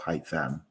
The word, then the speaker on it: Haitham: What can you tell us about yourself, Haitham?